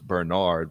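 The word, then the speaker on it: Bernhard: love the guys names i know it's bernard but it's spelled burn hard i mean burn hard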